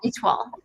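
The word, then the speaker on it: Étoile: Did I pronounce that correctly? Yeah, ITWA.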